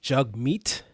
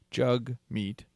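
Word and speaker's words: Jagmeet: his Twitter profile says it's pronounced jug meet like hug right and also uh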